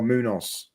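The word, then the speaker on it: Muñoz: Easy to pronounce. Moo like a cow. Nose like a nose. Moo nose. Oh, Munoz. Munoz.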